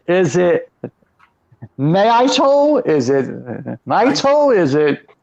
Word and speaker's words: Naito: Yeah, Naito.